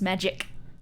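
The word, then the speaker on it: Magik: In the Curse War, something interesting is mentioned, that being magic with a K, pronounced magic. You kind of click it at the end.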